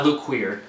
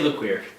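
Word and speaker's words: Luquier: lukier that's how you that's how you pronounce it i look queer people say look weird hey guys this one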